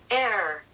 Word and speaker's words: heir: to pronounce this word I think it's just air the H is silent or not I'm not sure what is Google say air air a fire is